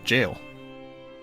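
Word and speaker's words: gaol: I mean it's pronounced jail. G A O L is jail.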